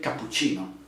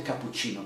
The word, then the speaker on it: cappuccino: am emphasizing this okay you can say but cappuccino okay you see that the sound cap okay when you when you speak cappuccino okay i want the cappuccino please cappuccino cappuccino okay you will